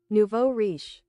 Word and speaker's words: nouveau riche: Nuevo Richie? Nouveau riche. Nouveau riche? Wow, I said that so wrong. One more time. Nouveau riche.